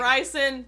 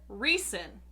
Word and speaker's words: Rhysand: weird because i've been saying rice reese and ryzen don't write they don't calculate so apparently though